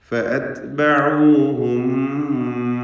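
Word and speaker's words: فَأَتْبَعُوهُم: ഫഅത്ബഊഹും മുശ്രിഖീൻ. എന്ന് പറയുമ്പോൾ തായിൻ്റെ ഉച്ചാരണം ശ്രദ്ധിക്കുക. നേരത്തെ കാഫ് പറഞ്ഞതുപോലെ ഹംസ്, ഷിദ്ദ തുടങ്ങിയ സിഫത്തുകൾ അതിനുണ്ട്. ഫഅത്ബഊഹും അത്ത് എന്ന ശബ്ദം ചലിക്കരുത്. എന്നാൽ അത്ബഊഹും എന്ന് തീരെ പിടിച്ചു വെച്ചുകൊണ്ട് ഉച്ചരിക്കാനും പാടില്ല. ഫഅത്ബഊഹും അവിടെ സാക്കിനത്ത മീമും ശേഷം ഹറക്കത്തുള്ള മീമുമാണ്.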